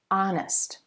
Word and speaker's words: honest: a onetime thing and don't be fooled by words like this our honor honest even though you see the consonant letter H that H is silent and the first sound you hear in each word is actually a vowel sound so it's an hour